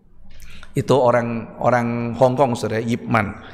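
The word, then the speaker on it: Ip Man: orang orang Hongkong saudara yipman itu bukan Ipman bacanya Ya saudara saya ditanyain kamu sudah nonton Ipman Pak Hah Ipman apa Ipman itu itu yipman gitu itu orang Hongkong itu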